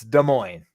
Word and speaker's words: Des Moines: of iowa is dead des moines but it's spelled des moines like those people jefferies des moines people get it right it's des moines like they're don't pronounce either s and you're good iowa